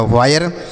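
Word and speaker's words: wire: उसके बाद डब्ल्यू से पढ़ेंगे वाह, आई का उच्चारण आय तो हो गया वाय, आर ई से रॉ लिखा गया वायर।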